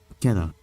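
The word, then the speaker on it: Keter: Pronunciation. Let me see. Keta.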